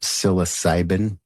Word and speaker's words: psilocybin: in psychedelic mushrooms are psilocybin so and that's spelled with a p siloc cybin later in a subsequent conversation